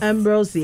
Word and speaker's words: Ambrosius: of the hour Mara ambrosus has joined us I'm saying her name correctly cuz she told me that's how you say it properly ambrosus sounds awesome it sounds